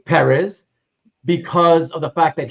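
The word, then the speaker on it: Pérez: that's why it always for most most people in the english- speaking World it becomes Perez you emphasize the second syllable you know but for for George I always try to say perz because of the fact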